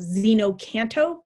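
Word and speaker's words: xeno-canto: And that one is from an app called Xenocanto, spelled with an X.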